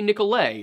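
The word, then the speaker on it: Nicolet: the name of Jean nicholet it also may be nicolay but as far as French is concerned if you don't want me to pronounce the letter don't put it there nicolay encountered the Ho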